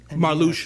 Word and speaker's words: Marluxia: Marluxia, yes, that's how you say it.